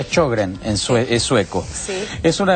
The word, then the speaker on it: Sjögren: La enfermedad se escribe Sjögren, se pronuncia Sjögren, es sueco.